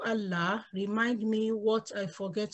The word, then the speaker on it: Allah: word of Allah so we have to pronounce it with a thick mouth or a full mouth because it's preceded by The Stroke of butter so it will be Allah and when we stop